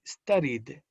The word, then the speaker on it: studied: So, the pronunciation of the ed in the past tense would be studied. ¿Ven cómo hay una D al final? Una D al final que cierra. Studied.